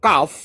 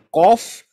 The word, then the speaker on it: kaf: gematrianya tetap 20 jadi ini benar ya bukan Kof tapi Kaf ya bacanya adalah lemek ya ini eh akhir daripada